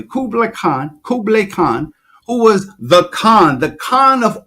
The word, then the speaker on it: Kublai Khan: It's so deep that I read that Kublai Khan, you have to pronounce his name correctly, Kublai Khan, who was the Khan of all Khans.